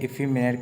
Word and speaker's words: effeminate: इफीमिनेट कहते हैं। स्पेलिंग इसकी याद रख लीजिएगा, EFFEMINATE। पहले इफ़ी करके पढ़िए, फिर मिनट करिए।